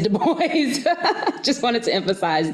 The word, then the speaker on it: Du Bois: his name he said my name is pronounced in the english fashion do with you as ensue boys as oi and voice the accent is on the second syllable so it is the boys i just wanted to